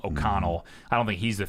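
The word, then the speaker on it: O'Connell: I don't think Aiden I think it's oconnell I keep get his name wrong OK Connell I don't think he's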